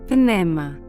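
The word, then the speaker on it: πνεῦμα: This is how this word is pronounced in Greek, pneuma, and in Hebrew, rûaḥ.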